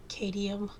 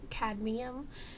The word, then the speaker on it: cadmium: step up and say kadium I'm I mean I'm that's not exactly how you pronounce it it's CAD cadmium and I keep pronouncing